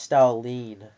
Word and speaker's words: Stalin: It's pronounced Stalin.